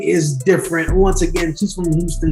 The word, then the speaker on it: Difernt: there listening and watching yes my name is different spelled d-i-f-e-r-n-t so you guys know how to spell that uh thanks so much for having me